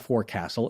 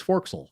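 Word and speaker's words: forecastle: whale it's gunnel gunnel poor castle is not for castle it's forxel yeah there you go anyway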